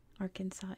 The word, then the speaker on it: Arkansas: we have those names Arkansas is spilled with an S at the end silent s because it comes from the French version of an alonquin word and that is that